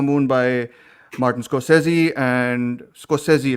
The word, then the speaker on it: Scorsese: of the Flower Moon by Martin Scorsese, and Scorsese, right? That's the way to Scorsese. pronounce it.